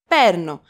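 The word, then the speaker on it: παίρνω: of the ver verb perno which was written with alpha y and the accent was on the second syllable from the last perno but don't confuse it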